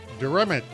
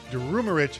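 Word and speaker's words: Durumeric: He's the CISO over at Genesis Financial Solutions, and Zakir Durumich. You know what, Zakir, you're going to have to pronounce that one again for me. Pronounce the last name for me. Durumarich, founder and chief scientist for Census.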